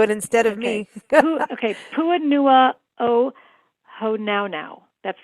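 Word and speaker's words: Puʻuhonua o Hōnaunau: Puanua o Honaunau. That's right, Puanua o Honaunau Oh wow.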